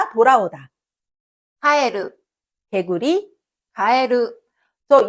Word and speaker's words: 蛙: et dans le mot かえる , qui signifie « grenouille », le qui suit est prononcé plus haut.